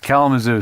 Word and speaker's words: Kalamazoo: Kalamazoo.